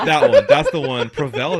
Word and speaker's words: Provel: Prevel. That's how you pronounce it.